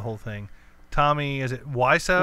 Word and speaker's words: Wiseau: Tommy, is it Wiseau? Wiseau. Yeah. That's how you pronounce it.